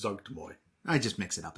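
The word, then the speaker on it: Zuggtmoy: I don't see enough Myconid stuff, especially when you go into Zugmatoi, and you could go with the fungal based zombies. I love watching you pronounce Demon Lord names because it's Zugtmoy.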